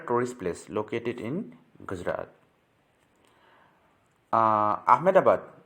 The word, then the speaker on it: Ahmedabad: what are the tourist place located in gujarat ahmedabad pronounces amidabad by gujaratis is situated on the banks of